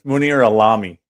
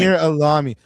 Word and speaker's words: Munir Alami: It's Munir Alami. Kind of like salami. Munir Alami.